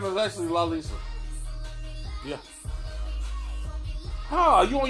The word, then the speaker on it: Lalisa: were going to say my name is actually la lisa yeah oh are you on your phone googling